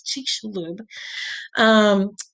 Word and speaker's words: Chicxulub: how to say this, but I think it's Chicxulub.